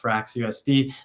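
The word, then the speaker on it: FRXUSD: the ethos of f FRX USD pronounced fra USD with this new stable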